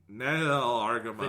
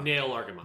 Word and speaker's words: Nahel Argama: walks away for the Nail Argama. The Nail Argama. Nail Argama, yeah. It's spelled very, very weird in English. It's spelled like Nahel Argama.